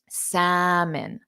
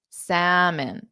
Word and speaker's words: salmon: a way that sounds like it to you salmon salmon daada salmon salmon okay so please start ordering